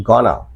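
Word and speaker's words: gonna: गोइंग टू को बोलेंगे गाना। गिव मी को बोलते हैं गिव मी।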